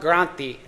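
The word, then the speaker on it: granthi: call it the Brahma Granti. I'm going to mispronounce that. Brahma and then granti is basically means a knot. So and granti is spelled gr an n t hi. Okay.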